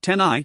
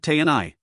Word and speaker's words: Tenai: Pronunciation, Tenai, not Tni.